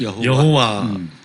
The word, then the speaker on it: 여호와: 영어로 롤드, 주님 이런 뜻이고 또 야훼를 다르게 발음해서 예. 여호와라고 네.